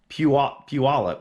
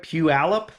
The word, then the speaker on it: Puyallup: saying i'm wrong so it's not pu olip i'm pretty sure it's pew alepp pew allep we'll see let me